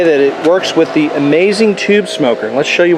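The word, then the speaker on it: Amaz-N-Smoke: a link in there it's called amaz in it's spelled A- Maze dasn and you say it amazing and all you do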